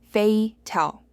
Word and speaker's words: fatal: Fatal is fei-tel, with an open e type.